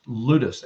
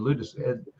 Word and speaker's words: ludus: share the next one i think it's pronounced ludus l-u-d-u-s and it's playful love